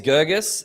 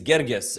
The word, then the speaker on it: Girgis: The uh the white paper way is Gurgus. The Egyptian way is Gerggas.